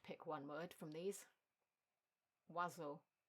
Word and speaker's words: oiseaux: Oiseau, the plural version. This is the longest word in French where you don't pronounce any of the letters réellement.